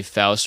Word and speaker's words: Faust: though one because obviously Faust or Foss depending on how you want to pronounce it was on drums and